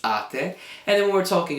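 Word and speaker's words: -ate: When we're talking about voi, it'll end in ate, it's not eight, it's ate.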